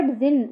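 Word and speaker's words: djinn: तो even the क्लेव जिन वास eight हि विट्स एंड ओके तो ये जो डी लिखा हुआ है इसमें डी साइलेंट है तो जिन है ये तो इवन द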